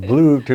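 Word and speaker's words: blewit: So in the United States, it's called the bluet, and they spell it B-L-E-W-I-T, which is a corruption of blue hat and stuff.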